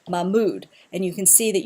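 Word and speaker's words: Mahmoud: put the emphasis so it's not ma mood it's m mood and you can see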